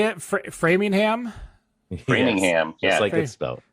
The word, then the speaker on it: Framingham: so much uh how do you say it framingham brainingham yeah framingham all right uh massachusetts go check it out